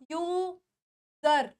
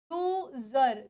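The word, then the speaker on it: user: लेकिन यह वर्ड है यू सर यू सर नहीं अब देखो यहां पे एस की साउंड कैसे आ रही है वो ज के फॉर्म में आ रही है तो वर्ड की स्पेलिंग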